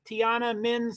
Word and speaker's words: Tiananmen: phonetic that's phonetico right Tiana min Tiana Min thank you thanks for teaching me how to say that that is right right where all the